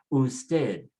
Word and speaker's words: usted: Ending with a consonant, so just put the stress on the last syllable. Everything is on the last syllable now. Usted, español, español, and ñe, so you say ñol, español.